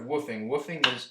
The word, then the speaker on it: WWOOF: And if you haven't heard of woofing, that's spelled WWOOF.